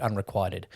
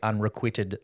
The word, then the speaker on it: unrequited: He also mispronounced the word unrequited, which if I sent my books off to an author and it was a romance, I would make sure they don't say unrequitted love.